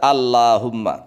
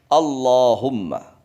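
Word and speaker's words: اللهم: Kemudian seandainya disambung dengan mim atau digandeng dengan mim tasydid, maka diucapkan Allahumma. Enggak boleh dibaca Allahumma, tapi Allahumma. Anehnya, tatkala huruf sebelumnya berharokat kasroh, lamnya terbaca lam.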